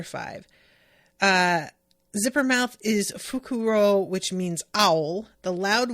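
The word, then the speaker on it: Fukurō: guy is fukuro fuku I can never tell how how I should say things because I am used to the like Latin accent usually on the uh the first syllable or last syllable but in Japanese I think it tends to be like the second syllable a lot of the time um Gus says they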